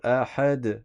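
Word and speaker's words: أحد: Ensuite ahad à vous.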